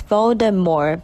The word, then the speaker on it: Voldemort: pronounced than voldemort it's voldemort by the way the t is silent as this name is